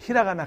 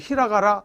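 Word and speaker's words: ひらがな: 어떤 사람 인터넷 보면 히라가라, 가타가라 이제 엉터리로 발음하는 사람도 있는데 얘는 여기 타금이라고 해서 점이 있지. 얘는 죽어도 까라고 발음 못해. 히라가나라고 해야 돼. 근데 얘는 여기 타금이 없으니까 뒤에 올 때는 까나라고 그래. 뒤에서 공부합니다. 가타까나야. 얘는 가타까나고 얘는 히라가나야. 히라까나 하면 안 돼. 히라까나는 없어. 히라가나, 가타까나.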